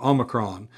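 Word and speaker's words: όμικρον: Ocron it is a O as in porridge. So, that short O sound.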